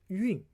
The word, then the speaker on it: 晕: That's called yun. And this meaning still exists. Okay, but you have to pronounce as yun. Okay, yun means 日晕 means that the glow around the sun.